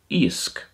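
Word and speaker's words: iasc: ma this means fish in manx gaelic it's pronounced yeast yeast in irish isk isk next we have the number four in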